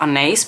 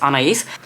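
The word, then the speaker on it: Anaïs: This is the shade Anais, and I'm pronouncing it Anais now instead of Anais because Lisa pronounced it like this. I went back to watch her video and she pronounces this as Anais, and I figured the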